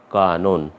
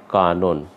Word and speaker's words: কানন: এই যে আমাদের নিয়মে আয়ের কথা বলা আছে, কাজে এই মধ্য অয়ের উচ্চারণ ওকারের মতো হয়ে যাচ্ছে, দিয়ে আমরা লিখছি কানন, কয়েকার দন্ত নয় ওকার দন্ত ন, উচ্চারণটা হবে কানন। আমরা লিখব কিন্তু এটা কয়েকার দন্ত ন আবার দন্ত ন, কিন্তু উচ্চারণ করতে গিয়ে আমরা বলবো কানন।